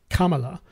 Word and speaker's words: Kamala: Kamala or a Kamala I know she doesn't like Kamala but she pronounce it Kamala um if you re